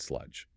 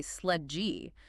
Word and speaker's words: sludge: It requires mastering the soft J sound at the end of the word. S L U D G E. Brazilian speakers often want to add a vowel at the end and say sledge.